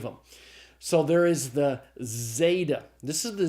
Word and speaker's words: zeta: the english word days now there is some controversy about how to pronounce of the zeta even in standard pronunciation some people want it slightly plosive like a DZ together but i teach it as a simple z sound i think most people do teach zeta as a simple z sound so zeta is the Z sound pronounced like the z in days the next letter is